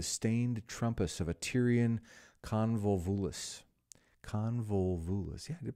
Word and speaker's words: Convolvulus: He saw it creeping into the stained trumpus of a Tyrian convolvulus. Convolvulus. Yeah, I did pronounce that right.